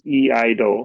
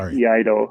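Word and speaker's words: Iaido: So and and the pronunciation is eido. So like yaido.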